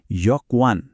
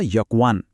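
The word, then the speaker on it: 여권: एकदमै महत्वपूर्ण शब्द खास गरि हामी सबैको लागि यकवान उच्चारण हुन्छ यकवान मतलब पासपोर्ट ल फेरी एकचोटी यकवान यो त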